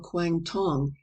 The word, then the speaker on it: Quang Tong: of the province of Canton or Quang Tong as it is pronounced by the natives appears to be the